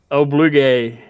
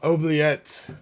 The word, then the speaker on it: oubliette: definitely did not spell it right. I know I did, but it's fucked. What do you got? Obligé. No. No. Oubliette.